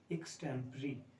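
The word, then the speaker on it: extempore: तरीका है, तो इसीलिए ज़्यादातर लोग इसको रॉन्ग प्रोनाउंस करते हैं। The right way इज एक्सटेम्परी।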